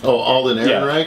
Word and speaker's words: Alden Ehrenreich: Alden Ehrenreich?